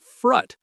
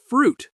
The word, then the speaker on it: fruit: The word fruit, it's not frutt, but fruit with that ui sound like in suit.